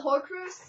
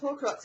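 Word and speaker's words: Horcrux: with the whole pies I love hor Cru which is really weird but then I heard it pronounced hor Crux I'm like what yeah pretty much so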